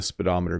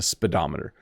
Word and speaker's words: speedometer: So even though it has the word speed in it, it's not pronounced the same way. So it's a speedometer.